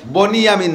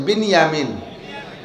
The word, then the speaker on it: বিনিয়ামিন: ভাই ইউসুফ আর বিনিয়ামিন বনি ইয়ামিন না একটু উচ্চারণে বিনিয়ামিন শব্দটা কিনিয়ামিন আর বনিয়ামিন কেউ নাম রাখলে বনিয়ামিন বললাম বিনিয়ামিন বিনিয়ামিন দুই ভাই আর উনার